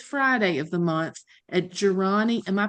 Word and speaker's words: Jirani: on the fourth Friday of the month at Jirani. Am I pronouncing that correctly? Correct, Jirani Okay, Coffeehouse.